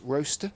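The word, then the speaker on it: Rocester: Well, he did tell me how to pronounce this. Ros roster. R O C E S T E R. Roster I have not heard of it.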